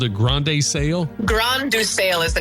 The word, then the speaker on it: Grain de Sail: g r a i n like grain the s a i l sail.